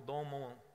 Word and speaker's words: Don Moen: Se não me falha a memória, o autor dela é Don Moen, ou Don Mon, que é a pronúncia.